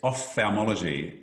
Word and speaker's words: ophthalmology: pronounce so for for the listeners can you pronounce the field of surgery that you're involved with yes ophthalmology so it's oph th off theomology so it's